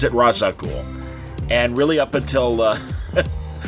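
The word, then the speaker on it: Ra's al Ghul: I'd like to point out that uh Denny pronounces it razaul and really up until uh Batman Begins I always pronounced it as razag ghoul and in fact I know the Batman animated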